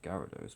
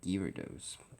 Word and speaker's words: Gyarados: my laptop to handle gados even though it's pronounced Gyarados but some people call it girados because they have some sort of deficiency the